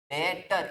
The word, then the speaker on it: debtor: डेटर। इसको पढ़ना भी कैसे है? डेटर, क्योंकि यहाँ पे बी क्या होता है? साइलेंट।